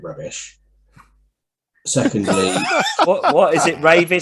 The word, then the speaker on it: Ravis: And thirdly, nobody can pronounce it properly. Ravis, Ravi, Ravi. Digi says Ravi, Ravis. It's Ravis, and I have to keep saying it's Ravis. Digi does it in the kind of French, Ravi.